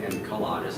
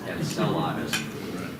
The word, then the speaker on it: Enceladus: I learned from John Heberger that I was mispronouncing it 2 weeks ago. I called it Enceladus. It's Enceladus.